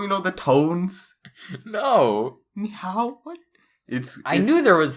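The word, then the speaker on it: 你好: You said ni hao. It's ni hao.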